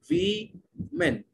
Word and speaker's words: women: So WOMAN ko woman pronounce karte hain. WOMAN ko women. Women.